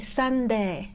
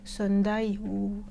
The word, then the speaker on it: Sunday: parce que du coup en terme de prononciation par exemple pour sunday on dit sam des on-dit pas sound ayew je sais pas quoi